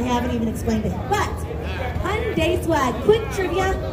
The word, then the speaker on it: Hyundai: Hyundai is the way, like Hyundai, Sunday, Funday.